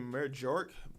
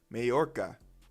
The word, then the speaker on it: Majorca: sailor in uh in merjark mark mayor jerk ooh somebody say this word for me i almost bit my goddamn tongue majorca mayorka the j is silent mayorka tried to sink